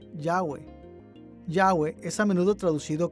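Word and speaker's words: Yahvé: y h w h recientes descubrimientos arqueológicos han indicado que este término debe ser pronunciado yagüe yagüe es a menudo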